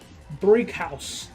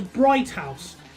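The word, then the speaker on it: Brighouse: Alright, so, Brig House, which when I was younger, I pronounced as Bright House, but I didn't notice the lack of T.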